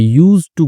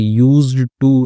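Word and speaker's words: used to: आई यूज्ड टू गेट इसमें जो डी होता है ना वह साइलेंट हो जाता है यानी कि आई यूज्ड टू नहीं बोलते आई यूज्ड टु गेट ऐसे बोलते हैं इसको तो क्या करता था?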